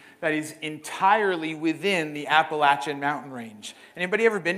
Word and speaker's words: Appalachia: they come from Appalachia because I say it right right didn't say appal AA or the Appalachians right it's Appalachia my family comes specifically